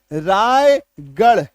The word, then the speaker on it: रायगढ़: वहां पे आर का उच्चारण ढ होता है। जैसे रामगढ़ ढ अलीगढ़ ढ रायगढ़ ढ आजमगढ़ ढ चंडीगढ़ जितना गढ़ है है